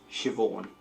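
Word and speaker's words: Siobhán: just okay so this is how you actually pronounce them nev shivon naomi oh y'all created the naomi name what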